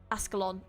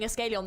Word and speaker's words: Ascalon: Ascalon. Ascalon. Sorry, I am going to keep saying it wrong. I will get there eventually. It's cuz I've been saying Escalon this whole time.